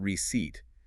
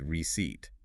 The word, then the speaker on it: receipt: Notice how the P in receipt is silent. It is not receipt. It is receipt.